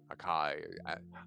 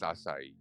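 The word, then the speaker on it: açaí: am extra we're going for the a berry aai I know it's it's supposed to be pronounced asai but come on man work with me not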